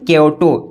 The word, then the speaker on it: Kyoto: देखिए, the frog मेढक जो है, हु लिव्ड मतलब कि रहते थे, इन क्योटो। देखिए, KYOTO, इसका प्रोनाउंसिएशन क्या है? क्योटो।